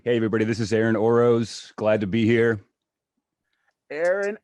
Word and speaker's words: Orosz: your name hey hey everybody this is aaron oroz glad to be here aaron oroz i'm glad